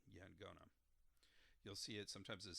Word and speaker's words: Yaqona: you do this, but instead of a Q sound, it's a G sound, so Yangona. So sometimes you'll see it spelled Yaqona, and sometimes Angona. So the Q is an NG sound, Yangona.